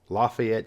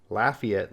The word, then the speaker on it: Lafayette: Here's one where you have at least 3 different ways to pronounce it. Lafayette, Indiana, Lafayette, Louisiana, and Lafayette, Georgia.